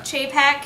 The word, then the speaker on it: Chapek: Okay, so what Bob, is it Chapek? Is that how you say it? Yeah. Chapek, he's the chairman of the Parks and Resorts.